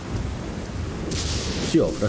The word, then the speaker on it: Siofra: Non mi ricordo esattamente come si pronuncia. adesso vediamo. No, sta qua. Si offra, sì, si offra.